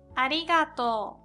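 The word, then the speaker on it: ありがとう: And thank you is arigatou, arigatou. That's to and u at the end, but because of o, u sound, we pronounce like long o sound.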